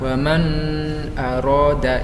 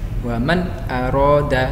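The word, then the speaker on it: مَنْ أَرَادَ: ya bacanya Wamen aroda tidak boleh dibaca samar woman roda itu salah Jadi bacanya harus jelas woman aroda Hai kemudian hak Hai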